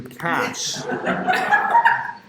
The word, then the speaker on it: cache: Rhymes with stash. We will later update this to cache.